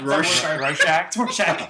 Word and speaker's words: Rorschach: No, it's not a shark. Rorschach.